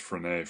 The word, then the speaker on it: Frenet: it's also called the frenet that's french it's pronounced phrenae frame and it's a special kind of a